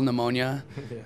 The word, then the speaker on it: pneumonia: And I was like, I figured like no one could spell pneumonia, nor could anyone pronounce the word pneumonia when they read it, like with the silent P, like pterodactyl, kind of.